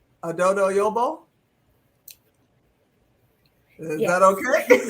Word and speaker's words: Addo-Yobo: Our visitors are Isabelle, tell me if I'm saying it right, Addo-Yobo? Is that okay? Addo-Yobo, yes.